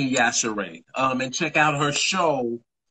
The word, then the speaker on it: Yashere: I've definitely been pronouncing Yashere wrong this whole time. Well, that's what I'm here for. What were you saying? Yashir? Yes. Gina, is Gina Yashir? Gina Yashir. Gina Yashere.